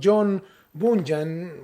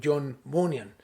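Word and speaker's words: John Bunyan: vamos a hablar acerca de un hombre llamado john bonham muchos le llaman así o también se pronuncia muy bien como john von yang entonces este para que hablemos de la misma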